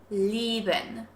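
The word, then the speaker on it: lieben: which means to love leben with a long stretched e sound leben now if we put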